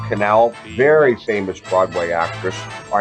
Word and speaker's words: Connell: And yes, that's how you say it. It's not Connell, it's Canal.